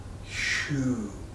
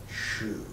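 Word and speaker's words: 嘘: your body this area the sound is shoe written in pinyin as xu pronounced like well what we wear on our feet shoe and the season for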